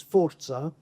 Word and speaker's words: Forza: fora to you but I have to pronounce it in the Italian word which is Forza which means power strength